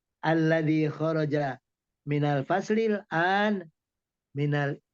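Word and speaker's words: الذي: Itu bacanya alladzi ya, bukan Alladzi. Bukan diganti.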